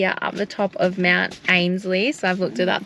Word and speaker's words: Mount Ainslie: We are up the top of Mount Ainslie, so I've looked it up. That is how it's pronounced.